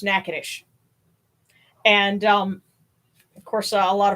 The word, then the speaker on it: Natchitoches: at it on the map, it looks like Natchitoches. but it's actually pronounced Natchitoches. And of course, a lot of folks that live there, joke and call it nacho toe cheese, but or Naca trash. But yeah, Natchitoches was the way to say it.